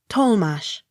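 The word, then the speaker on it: Tollemache: d e m a tatama accent on first syllable t o l l e m a c h e tolmash t r a f a l g a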